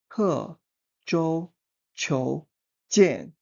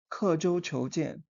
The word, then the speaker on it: 刻舟求剑: From left to right it is kě zhōu qiú jiàn kě zhōu qiú jiàn Here kě it means carve or mark.